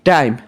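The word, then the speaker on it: time: লাস্টে ই আছে সেজন্য ওইটা লং সাউন্ডে উচ্চারিত হয়েছে। যদি শর্ট সাউন্ডটা হইতো তাহলে টাইম এটার উচ্চারণ আলাদা হতো। টিম হতো বুঝছো?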